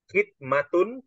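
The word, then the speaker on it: خدمة: melayaninyaidmati yaidmatihi dengan melayaninya jadi beda antara kita membacanya khidmatun dengan khamatun ya kalau khidmatun itu artinya adalah pelayanan ya kalau khidmatun itu artinya pelayanan kalau khamatun para pelayan kan beda ya kalau khidmatun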